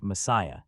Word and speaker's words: MSIA: insight but more accurately as MSIA the movement of spiritual inner awareness pronounced Messiah.